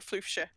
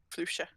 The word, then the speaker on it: Floofshire: So yeah, it's Floofshire in my accent. Floofshire. Like Yorkshire.